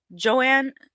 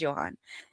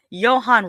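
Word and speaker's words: Johannes: Joanne Roberts from 47 Meters Down, The Strangers Pray at Night, directs from a script I'm sorry, that's probably Johan. I'm saying Joanne, and I think it's pronounced Johan. Johan Roberts, who did 47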